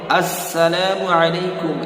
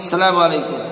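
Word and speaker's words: السلام عليكم: এইযে এই আস শব্দটা আমাকে আপনাকে উচ্চারণ করতে হবে। আমরা কি মূলত সালাম দিয়ে থাকি কেমন? সালামু আলাইকুম। সালামু আলাইকুম। আসসালামু আলাইকুম না আসসালামু আলাইকুম সঠিকভাবে সালামটা দিতে হবে যাতে আমি পরিপূর্ণ সওয়াবের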